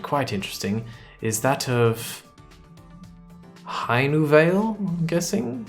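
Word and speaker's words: Hainuwele: interesting is that of High new Veil I'm guessing I feel like the W would be pronounced with a V haydenville they're going to say which uh country it's from heinenville that's correct uh Indonesia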